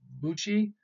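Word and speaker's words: bushi: both ways probably the pronounce the the correct pronunciation is Buchi they were the military nobility of medieval and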